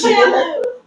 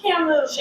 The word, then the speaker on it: Camus: So, like, Guys, it is Camus. What? It is pronounced Camus. I told you, Camus.